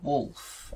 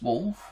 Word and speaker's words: Wooluf: i die this is it's the wolf or olive old it's spelt w-o-o-l-u-f but you can see it just says wolf here um so basically um